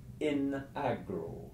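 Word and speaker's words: in agro: the end of the first word gets lengthened by the fact that there is an S or an F coming up so for example the Latin fall in the field is in Agra with a short I for in in Agra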